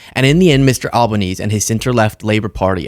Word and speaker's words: Albanese: Albanese and his center-left Labour Party appeared to have